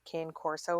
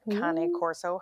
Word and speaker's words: cane corso: thinking of getting a cane corso or kane corso however you should choose to pronounce it but maybe i'll get